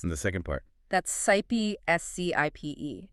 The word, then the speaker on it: scipe: That's 'scipe' S-C-I-P-E, It's pronounced like ship.